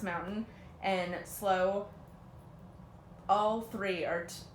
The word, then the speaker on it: MAMNTN: Next person is, let's see, Christian Hansen, and so it's three different accounts, but same person and same company, is MAMNTN, pronounced mountain, and Slow.